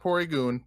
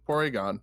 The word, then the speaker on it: Porygon: tour Egon no no spell it right not not poori goon porygon there we go alright porygon